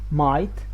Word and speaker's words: might: And the last rule is before silent G and S. Might, sign, island, and sigh. So as you can see, G here and S here is not pronounced, so that's why we call it silent.